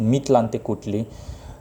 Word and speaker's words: Mictlantecuhtli: Aztec God of Death, Mictlantecuhtli. That's how his name is pronounced, Mictlantecuhtli.